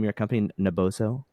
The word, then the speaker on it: Naboso: on the teaching front and how do you pronounce the name of your company naboso naboso naboso how much time do you when you you're